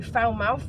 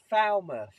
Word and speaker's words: Falmouth: are at fat well I keep saying it wrong what is it they did Falmouth Falmouth it's not Falmouth David keeps taking the